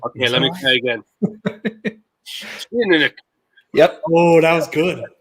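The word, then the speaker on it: Teaninich: me this, but like if you just keep your lips tight and just force it out and sound confident, you probably have nailed the pronunciation. Okay, let me try again. Tinanik.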